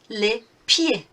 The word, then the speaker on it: les pieds: Moving on, les pieds. Les pieds. Again, we don't pronounce the last bits of this French word, but we know it's more than one.